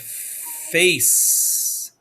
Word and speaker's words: face: letters right here ace it's a soft c right there there's a silent e right